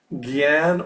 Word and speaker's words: jnana: So, and just the other day, we're also about the word jnana? Jnana. So in a class in New York, Srila Prabhupada said you could pronounce that Gyan or Jnana. Either way.